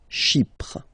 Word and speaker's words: Chypre: So remember, we've got this Y letter here, but then phonetically when you pronounce it, it's like I, okay? Chypre.